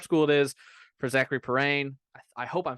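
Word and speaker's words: Perrin: now so prep school it is for zachary parane i hope i'm saying that right i think i saw when he announced yeah yeah it's spelled p-e-r-r-i-n yeah but it's it's pronounced parane um kind of a blow because there's not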